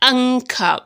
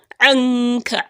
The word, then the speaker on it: عنك: ووضعنا عنك عنك, not anka, because even in the place of ayn, people say an, and that is you pronouncing alif or hamza, an. No, anka, ayn, you feel it in your throat.